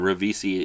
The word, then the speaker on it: Ribisi: No, I said it right the first time. Ribisi in it.